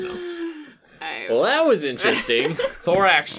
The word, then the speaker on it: Thorax: Thorax rhymes with Lorax.